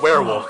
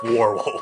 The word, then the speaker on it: Warwolf: Oh, not werewolf. Warwolf.